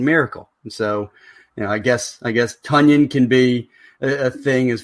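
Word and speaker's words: Tonyan: It sounds like how we would have pronounced it wrong initially, and he would tell us it was Tunyon.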